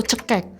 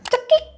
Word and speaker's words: cekik: Cekik atau cekek? Cekik. Nah, betul. Orang bilangnya cekek ya dicekek, Guys.